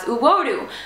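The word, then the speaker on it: uwodu: right there um your beautiful in Cherokee is pronounced as uodo but the thing is when I tried to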